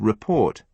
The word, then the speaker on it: report: In the word report, the stress falls on the second syllable.